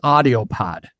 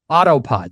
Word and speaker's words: Autopod: about video what is audio pod autopod sorry I said it wrong autopod so autopod it's